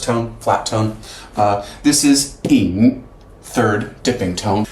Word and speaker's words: 引: This is ying, third dipping tone. The Y you just ignore, so that's pronounced, yeah, the I as an E sound, ying.